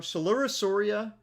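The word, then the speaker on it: Coelurosauria: Solurosauria um spelled like celopicis.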